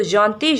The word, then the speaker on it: gentil: Okay, now gentil, gentil, double L is not pronounced in French, so gentil, gentil for feminine.